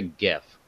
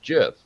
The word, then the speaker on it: GIF: of it called it it is not a Jeff the Internet has spoken it is a gif gif spells gift the Internet has spoken for years and years I don't care the Creator came out like a decade or two decades after and said by the way it's called a jiff no go do whatever